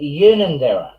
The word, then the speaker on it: Unanderra: But yeah, it's actually Unanderra. Well, yeah, it's just a matter of a hard or a soft U, un or un.